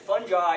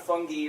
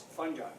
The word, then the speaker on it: fungi: occasion, there's domains, but fungus is a Greek word. So it actually follows the right, so if you look at the dictionary, you'll see that fungi is the right way to say this. I repeat this because it's my mantra. It's not fungi or fungi, it's fungi. It's not any of these other alternatives.